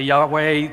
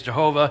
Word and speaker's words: Yahweh: text you see there yahuwah is the pronunciation of the tetragrammaton that I've chosen I don't get into fights with people about this some say Yahweh the King James says Jehovah Jehovah look uh we're talking about four consonants and we're doing the best we can the pronunciation I've landed on so if you hear